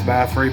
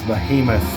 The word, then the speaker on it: Behemoth: ] it up because I always want to call this bathroom but it's not it's Behemoth and it's because of